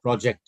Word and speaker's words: project: What you are pronouncing is the. It's not the right sound. It's not the right pronunciation. It's project. Right? Project. Project. Yes, now it's correct. It's J, not Project. Z. So project. No, again you mispronounced it. You're pronouncing J. You are pronouncing Z. Z. Z in place of J.